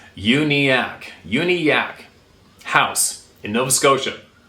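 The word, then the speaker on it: Uniacke: of his experiences at uniac that's how I pronounced it aniac uniac is pronounced unak unak house in Nova Scotia is of special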